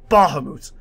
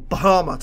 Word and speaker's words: Bahamut: we get here guys is Bahamas or Bahamas or however you pronounce it I say Bahamut myself and that's probably the way I'm gonna stick to it but yep the king